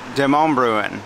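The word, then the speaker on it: Demonbreun: This is pronounced Demonbruen. So now we're walking from Music Row, which is back that way, back past the Naked People statue, down along Demonbruen Street, and Demonbruen will take us over into downtown Nashville.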